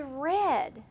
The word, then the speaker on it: read: irregular verb so the past tense of read is read now do I change the spelling to re D no it's a strange one we say read but it's spelled just the same as read okay so that's a great